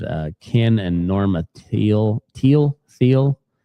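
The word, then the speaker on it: Thiel: Teal Teal. T H I E L. Um, I know Peter Teal, the investor tech guy, it's pronounced teal spelled the same way.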